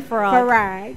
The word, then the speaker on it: Farag: It's actually supposed to be pronounced Farag. Farag is an Egyptian last name. But to try to make it easy, I'll just say Farag.